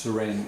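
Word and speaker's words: Suresnes: man known as serene if you are es n es pronounced serene if your wizard Patricia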